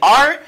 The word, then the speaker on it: are: Non, le verbe to be, c'est are, mais nous pas prononcer comme si avec E, c'est comme si c'est R là que prononcer seulement.